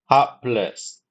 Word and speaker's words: hapless: The correct pronunciation is hapless. It's Hap 2 syllables, hap and less.